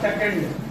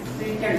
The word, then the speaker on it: secant: Not second, it is secant, है ना?